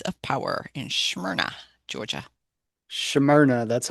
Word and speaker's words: Smyrna: Smyrna, that's how you pronounce it too.